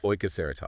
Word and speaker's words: Ajkaceratops: Let's meet Ajaceratops. First off, how do you say that? Ah, yes. It's oaseratops. Oaseratops.